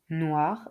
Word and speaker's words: noir: Les lettres combinées O i et w a font le son wa. Noir un oiseau.